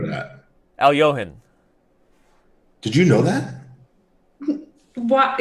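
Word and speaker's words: Alekhine: Al-Johan. Did you know that? What? No. No. Al-Johan. Al-Johan is the actual way to say it, but it's spelled Alekhin.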